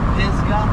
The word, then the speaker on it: Pisgah: the Pisa National Forest it's pronounced like it's spelled p i z g a pisga pisga but I always